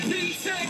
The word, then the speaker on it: P-Tek: Yo, P-Tek rhymes with reject, and P-Tek rhymes with respect.